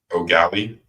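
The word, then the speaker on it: Eau Gallie: And then Xavier Larice out of O'Galley High School. I went there, I should know. Spelled EAU, but pronounced O.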